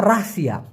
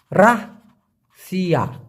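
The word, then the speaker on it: rahsia: আপনারা এটা ব্যবহার করতে পারেন বাতিন বাতিন অথবা রাহসিয়া রাহ সিয়া উচ্চারণটা হবে রাহসিয়া এই রাহসিয়া মানে হচ্ছে গোপন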